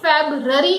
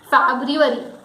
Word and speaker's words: February: It is not February, it is February. F-E-B, that is Fab. Then people miss the U that is in the spelling, R-U. So it is Ru, then Ari. So the word is February.